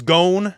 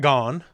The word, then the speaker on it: Gon: I immediately write down, oh, it's Gon, not Gone, as you hear it pronounced, right?